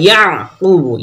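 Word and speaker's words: يَعْقُوبُ: বানি, হা খারাজে হাজের হি, বানিহি ওয়া ইয়াকুবু, ইয়াকুব, ইয়াকুব করবো না, ইয়া গলাত আওয়াজটি আটকে যাবে।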